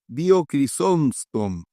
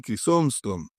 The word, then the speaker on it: Crisóstomo: Aquí tenemos al tercero, esto sí es bien complicado pronunciarlo, Crisóstomo, creo que se pronuncia así, Crisóstomo.